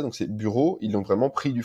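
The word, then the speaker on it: Büro: plus ils ont vraiment, le U tréma ça se prononce comme le U français, donc c'est bureau, ils l'ont vraiment pris du français, c'est en fait c'est l'influence de l'allemand des nobles.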